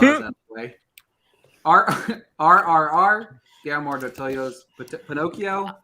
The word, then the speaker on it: Guillermo del Toro: RRR, Guillermo del Toro's Pinocchio.